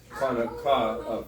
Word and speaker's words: Hanukkah: But the correct way to say it is Hanukkah, Feast of Dedication.